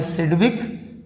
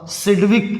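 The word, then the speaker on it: Sidgwick: The theory was proposed by सिडविक and Powell. थोड़ा सिडविक इसको पढ़ते हैं, थोड़ा स्पेलिंग पे ध्यान देना। SID के बाद G भी आता है, सिडविक एंड पॉवेल।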